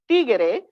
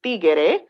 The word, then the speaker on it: tiguere: for several reasons first tigere is a phonological Evolution from the word Tigre which means tiger in English this Innovative pronunciation introducing an additional syllable from Tigre to tigere um shifts the meaning